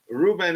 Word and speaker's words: Ruben: Ruben is not slow. He's pronounced like Robin.